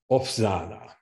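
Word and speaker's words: Օվսաննա: So, for example, the word opsana, that actually is a V sound, but because the S, it's followed by an unvoiced S, becomes opsana.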